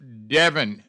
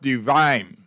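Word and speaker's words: Devynne: Should be pronounced Devin, not divine.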